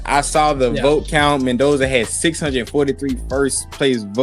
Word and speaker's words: Mendoza: The first news topic today is Frieno, how you pronounce his name? Mendoza. I said Mardoza.